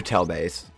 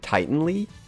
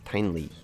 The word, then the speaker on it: Tianlei: I was calling it, I think, Tianlei, because I want to think of it as a Titan, and I think that was just my brain doing that, but it's Tianlei, I think, is how you say it.